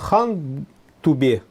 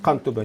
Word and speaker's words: Кантубе: археологической литературе обычно пишут хан Тубе, то есть ханский бугор, но, видимо, все-таки первоначально это был Кантубе. И наши его так и произносят Кантубе, не говорят Хантубе, то есть кровавый бугор.